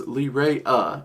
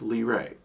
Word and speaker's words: Leraje: Okay, so this is a spirit, I've heard its name pronounced a couple ways over the years. One is Leraje, and one is just Leraje. Leraje and Leraje. So, generally speaking, I pronounce it Leraje, though I have noticed recently I tend to be gravitating back to that Leraje a bit more unintentionally.